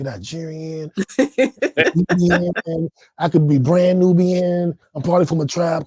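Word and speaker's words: nnọọ: me how you pronounce it how do you pronounce it new so the Evo word for hello is new and they call it a warm greeting I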